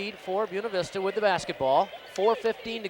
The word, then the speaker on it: Buena Vista: friends out there saying, why aren't they saying Buena Vista? Because in Saginaw County, it is called Buena Vista. So that's the way they want to pronounce it. That's the way we will pronounce it.